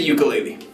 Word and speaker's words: ukulele: In Hawaiian, it is pronounced ukulele. I get a lot of debate sometimes on my channel about that, like ukulele versus ukulele. Ukulele is the traditional Hawaiian pronunciation, but in American English, if you say ukulele, it's fine, okay?